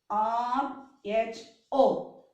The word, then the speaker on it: rho: so here this is the proportionality constant rho r h o what is the pronunciation rho rho means what it is proportionality